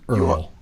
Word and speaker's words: URL: from the pound and his name's Earl URL though pronounced Earl oh jeez that's cute